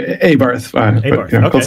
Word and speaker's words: Abarth: I think it's Abart. There's a model of car called an Abart. It's actually Abarth.